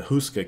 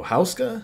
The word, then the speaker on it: Hauska: I was going, and I was pronouncing it wrong. I was saying the Hauska Castle, and he's like, "Oh, Hauska?" I said, "Yeah, Hauska." And he's like, "Oh, okay,